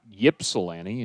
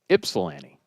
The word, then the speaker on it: Ypsilanti: 17 runs batted in it's not ypsilanti it's ipsilanti swinging a miss two strikes